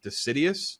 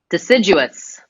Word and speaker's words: deciduous: These flowers are state wildflower of Georgia are typically uh I don't I don't know how to pronounce that word. I probably should looked it up. Decidious. Decidious. Deciduous.